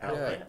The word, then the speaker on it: Atlant: Atlant. Atlant. Almost like Atlanta. Yeah, almost Atlanta without the A.